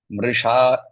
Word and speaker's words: मृषा: Mrisha, remember the sha here is the murdhanya sha. So pronounce it correctly.